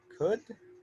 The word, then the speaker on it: could: with that we're pronouncing could normally could always remember we do not pronounce the l okay the l does not make a sound in any of the modals not in could not